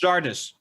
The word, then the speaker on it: Xardus: Oh, It's Xardus, not Zan.